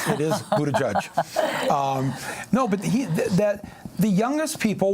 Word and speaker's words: Buttigieg: Yes, I'm not trying to pronounce the name. It is Buttigieg.